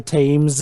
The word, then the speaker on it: Thames: head down to the thames don't you mean the tames it's if there is a sense of course it's pronounced differently over here in America or you Americans average